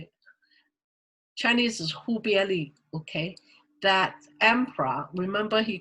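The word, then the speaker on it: 忽必烈: Chinese is Hu Bieli, okay?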